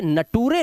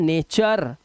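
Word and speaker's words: nature: जैसे यहां पर देखो अब इसे नटूरे नहीं पढ़ना है आपको। क्या पढ़ना है? नटूरे। नहीं इसको पढ़ना है नेचर। अर की आवाज है नेचर है ना इसके बाद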